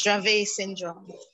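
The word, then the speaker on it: Dravet syndrome: Grace for uncontrollable seizures and diagnosed her with drive a syndrome is that how you say it yes drave syndrome well welcome uh Tracy and it's an honor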